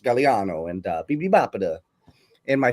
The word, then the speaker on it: Gagliano: Uh, but it's pronounced Galliano and uh BB.